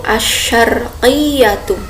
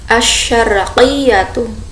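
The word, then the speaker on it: الشرقية: Nah, timur dalam bahasa Arabnya kita naqulu bil lughal arabiyah, timur itu asyarqiyatu. Nah, di sini bukan sin tipis ya, tapi tebal, shin. Asyarqiyatu pakai qaf bukan kaf ya. Jadi asyarqiyatu.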